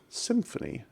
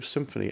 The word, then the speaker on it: Symfony: is a web framework called symphony and it's spelled like this sym Fon Y and I have not